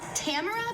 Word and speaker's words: Tamara: It's spelled Tamara, but it's pronounced Tamara. Like, if your birth control fails, you better plan B it.